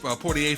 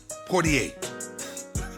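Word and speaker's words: Poirier: He has already dealt with a serious leg injury from uh the Dustin Poor Pier fight. I always say his name wrong. Dustin Portier now.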